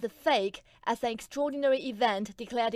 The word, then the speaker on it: PHEIC: The World Health Organization defines a global health emergency, or PHEIC, pronounced PHEIC, as an extraordinary event declared in face of